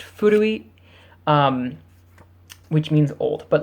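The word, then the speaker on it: 古: So it's pronounced ko, or if you make it an adjective by adding a little hiragana at the end, it's pronounced furui, which means old, but like not like a person.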